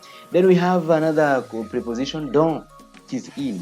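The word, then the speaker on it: dans: Then we have another preposition, don. It is in. We don't say dons. We say don. We don't pronounce the S.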